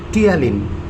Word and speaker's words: ptyalin: The other name of it is ptyalin. P is silent like pneumonia.